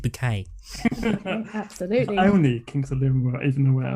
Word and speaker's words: Bucket: residence does it say the word bookie but pronounce it bouquet absolutely only king of